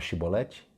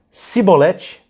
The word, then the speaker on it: Shibolete: Você sabe o que significa a palavra Shibolete? É uma espiga de grãos. É uma espiga de grãos. Por essa palavrinha, Shibolete. Se ele dissesse Sibolete, sem conseguir pronunciar corretamente a palavra, prendiam-no e matavam-no no lugar de passagem do Jordão.